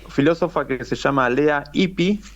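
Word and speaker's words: Ypi: que se llama lea ipi ipi se escribe yp y latina Eh Tuve oportunidad de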